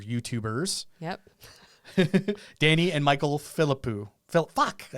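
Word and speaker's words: Philippou: yep Danny and Michael philipo Phil I said it wrong again what is it filipow Philip philipo philipo that's what it is filipo that's how they said it sensing an outtake here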